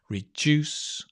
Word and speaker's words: reduce: items right so recycle reduce notice reduce although it's spelled with a d right it has a j sound let me come and